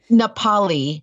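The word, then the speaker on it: Nā Pali: Nepali.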